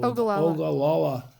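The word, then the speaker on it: Ogallala: big ones in the midwest is the uh ogala I can't pronounce it very well ogalala there thank you aquafer that is being over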